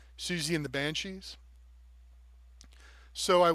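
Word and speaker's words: Siouxsie: like nugget of a song that sounded like Susie and the Banshees so I wanted to uh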